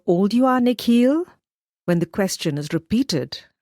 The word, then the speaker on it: Nikhil: down at his sneakers the way the principal pronounces his new name is different from the way his parents say it the second part of it longer sounding like heel she bends down so